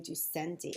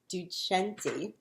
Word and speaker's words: Ducenti: I found out I was saying Ducenti, and it is not. The proper pronunciation is Ducenti.